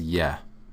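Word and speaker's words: Е: little series, which is, it looks like the English E, right? It's not. This is one of their vowels, and it's a Y sound. Most of their vowels, have a Y sound to it. So this letter is yeah. It sounds just like if you said, yes, the English word for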